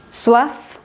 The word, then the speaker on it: soif: final u otras palabras en las que se pronuncie la consonante final. Soif, ciel.